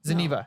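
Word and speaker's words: Zeniba: Zeniva? Zeniva. Thank you.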